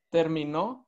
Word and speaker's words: terminó: Luego, y podemos poner terminó y término.